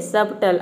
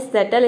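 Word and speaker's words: subtle: word है शटल सटल यहां पे देखिए क्या है सबटल है सबटल आप इसको सबटल प्रोनाउंस ना करें ये होता है सटल इसमें बी साइलेंट रहता है सटल का मतलब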